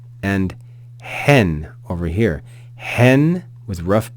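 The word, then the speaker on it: ἕν: word because you'll notice it's got a rough breathing Mark over that Epsilon so it's not n it's not n it's hen hen so we add aspiration before that vowel sound hen hen we then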